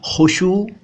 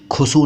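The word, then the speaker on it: खुशू: यह बताऊंगा बाद में पहले इसके उच्चारण पर ध्यान दीजिए मैंने क्या बोला मैंने बोला खुशु और खुजू या खुशु व ू या खुशु खुजू खुशु नहीं खुसू नहीं खुजू नहीं खुजू नहीं ठीक है ध्यान दीजिए इन शब्दों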